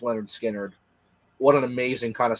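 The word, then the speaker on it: Lynyrd Skynyrd: general but this first album especially just uh pronounced Leonard skinnard what an amazing kind of Summer album starting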